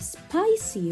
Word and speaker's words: spicy: Soft C here. Why? Because it's followed by E. So we pronounce it S.